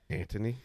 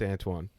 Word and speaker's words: Antoine: Antoine. Anthony. No, it's Antoine.